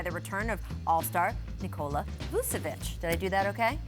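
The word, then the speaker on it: Vučević: Orlando coming off a win against the Pelicans, spurred by the return of All-Star Nikola Vucevic. Did I do that okay? Vucevic? Pretty good. Vucevic. Our resident Slav Croatian pronouncer.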